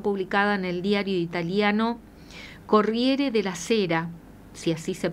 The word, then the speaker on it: Corriere della Sera: Francisco que fue publicada en el diario italiano Corriere de la Cera, si así se pronuncia, que se edita en Milán y este diario es el de mayor difusión en Italia.